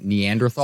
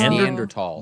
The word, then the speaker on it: Neanderthal: I don't think the TH is pronounced in Neanderthal. So it's I think it's Neanderthal.